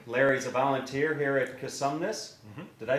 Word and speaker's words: Cosumnes: center with larry larry's a volunteer here at cosumnes did i say that right yes because now there's variations of how you say that right a lot of people pronounce it consume this let's start with the name if we would